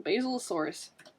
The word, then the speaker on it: Basilosaurus: And, okay, I think it's pronounced Basilosaurus. Like the plant basil? Like the plant basil, Basilosaurus.